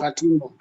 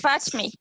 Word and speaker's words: Fatme: How do you pronounce your name? It's Fatme. Fatme.